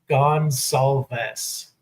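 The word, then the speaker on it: Goncalves: Last name Gonsalves. Gonsalves. Okay. Gonsalves.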